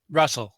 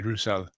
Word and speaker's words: Rusel: Hi, Russell, actually. Russell. Although it's easy to pronounce it different ways. I had a lot of flamenco friends who used to call me Rusel, so I'm used to that.